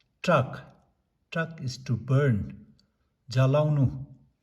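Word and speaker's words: སྲེག: And then sa rata sa dengpo se ga sek. Actually we have to read it as sek. Sa rata sa dengpo se ga sek. But in spoken Tibetan we pronounce it as trak.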